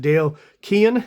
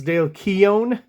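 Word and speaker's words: Dale Keown: how to pronounce specifically I seem to be getting comments about my pronunciation of Dale Kean is what I used to say and Todd McFarlan is what I used to say um but from General consensus it seems like it's Dale Keon and uh Todd McFarland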